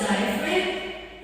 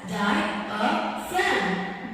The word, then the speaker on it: diaphragm: your diaphrag what's a diaphrag not diaphrag it's diaphragm and it is pronounced as thy a friend this is a muscle